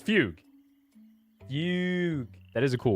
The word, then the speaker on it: fugue: It's not fugu. I think it's fugue. Yeah, it's Fugue, right? Yeah, I said that at the same time as SPF sent that message. I'm pretty sure it's Fugue.